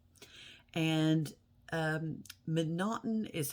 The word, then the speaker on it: M'Naghten: going to be about a guy named Daniel McNaughton and um monoton is how his name is spelled for the most part it's m apostrophe